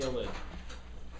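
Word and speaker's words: ylide: Okay, so that funky looking name, you pronounce that ylid.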